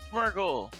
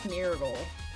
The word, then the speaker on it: Smeargle: Oh, Smeargle? Yeah, it's Smeargle. Oh. Like smear.